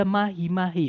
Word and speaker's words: mahi-mahi: Kalau yang Bravo ada mahi-mahi, empat suku kata atau empat pengucapan. Yaitu ma, kemudian hi, kemudian ma, kemudian hi. Setiap suku kata berakhiran vokal a, i, betul ya. Kemudian konsonannya yaitu m sama h-nya itu nggak boleh gandeng.